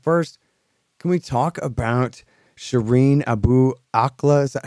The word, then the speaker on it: Shireen Abu Akleh: But first, can we talk about Shireen Abu Akleh? Is that how you say it? Yeah, that's. Okay. I don't speak Arabic, but that's how I've learned to pronounce it. Uh-huh. Shireen Abu Akleh.